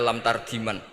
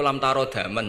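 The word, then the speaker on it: لم تر دما: Oh itu lam tarodaman cuma. Lam tarodaman itu karena marjeknya mar'ah, orang ningali sapa mar'ah daman ing getih. Dia bacanya jadi satu lam tardiman.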